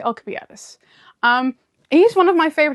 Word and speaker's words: Alcibiades: I know they pronounce his name differently in other stuff, but I say Alcibiades.